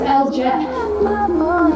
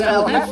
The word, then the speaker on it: El Jefe: What is El Jet? It's pronounced El Jefe, and he's over there ready to watch his dream team get to work.